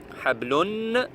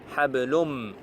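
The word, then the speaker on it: حبل: Le noun ne se prononce même pas en fait.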